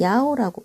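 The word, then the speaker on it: 一: 자, 그 다음에 1은요. 원래는 2라고 발음을 하는데 번호를 얘기할 때는 야오라고 발음을 해요. 좀 주의하세요.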